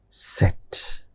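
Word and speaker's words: Zett: Then set. Z, which you see as in English, in German it is set.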